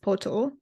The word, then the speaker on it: pato: Thus, to learn Spanish word for dog, pato, pronounced poto, the key word might be pot.